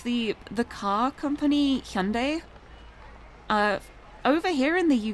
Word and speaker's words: Hyundai: UK like it was always mispronounced horribly like when you're talking about the cars it was always like Hyundai and they've they've had like a whole ad campaign recently just being like no it's pronounced Hyundai we're doing it properly now we are not going to be the silly white people anymore we are going to pronounce it the way it should be pronounced and I'm I'm glad